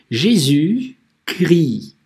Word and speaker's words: Jésus-Christ: Jésus-Christ читается именно так. Jésus-Christ. Если бы наоборот было Христос и Иисус, то был бы Christ, Jésus. Вообще Христос читается как Christ, отдельно если. А если вместе, то Jésus-Christ.